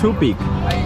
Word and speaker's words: tubig: What's tubig? Tubig. Tubig. Water. Oh, tubig is water. Okay. It's like, oh, it's too big.